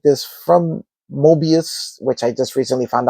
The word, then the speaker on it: Moebius: I've never built anything like this from Moebius, which I just recently found out that's how it's pronounced, other than the Batman Batpod.